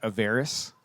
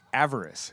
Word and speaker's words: avarice: you heard the word averis it's a word for greed or avarice sorry I pronounced that wrong avarice have you heard that